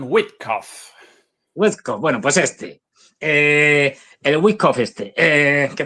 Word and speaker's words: Witkoff: Yo siempre lo llamo Witkoff con la pronunciación en Witkoff, alemán, pero en inglés lo llaman Witkoff.